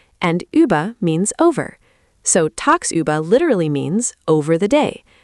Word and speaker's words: tagsüber: Next German word is tagsüber. Pronunciation: tags, über.